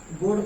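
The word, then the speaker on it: goading: Next लिखिए, nobody is गोडिंग। इसको pronunciation याद रखना, इसका मतलब है गोड। गोड पढ़ते इसको, गोड, गोड पढ़ते इसको।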